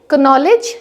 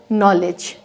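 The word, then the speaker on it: knowledge: और ऐसे ही ये कनॉलेज नहीं होगा, ये होगा नॉलेज।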